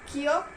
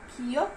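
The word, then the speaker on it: 기역: कियोक को हम क या ग की तरह प्रोनाउंस करेंगे। नियन को हम न की तरह प्रोनाउंस करेंगे और दिग्गत को द की तरह।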